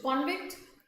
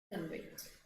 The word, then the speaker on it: convict: So convict, convict. Spelling is same, meaning is different, and the pronunciation.